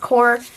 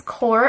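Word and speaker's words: Koi: up was this core I believe it's pronounced core water color set I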